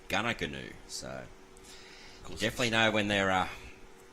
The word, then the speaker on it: Goonoo: It's the New England Highway, but it's spelt Goonoo Road. So G-O-O-N-O-O, G-O-O-N-O-O. However pronounced, Gunnagoonoo.